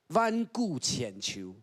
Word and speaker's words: 萬古千秋: 弯顾浅求，咩弯顾浅求。